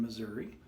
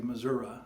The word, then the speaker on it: Missouri: that's sort of a common thing from people from the Bootheel to say Missouri instead of Missouri but anyway Missouri Missouri ever how you say it the show-me-state the